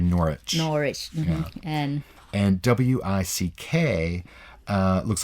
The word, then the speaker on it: Norwich: Which, W-I-C-H, the W is silent. It's actually like the town looks like Norwich. It's actually Norwich.